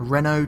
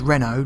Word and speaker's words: Renault: Ah, a Renault truck dealer. And it is Renault, not Renault. It's French, so you don't pronounce the T on the end.